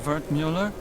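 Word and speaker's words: Wertmüller: Well, sometimes wart cut up version of Vert Mueller. It's German from my father. He said to always insist on the umlouts, otherwise people butcher the pronunciation.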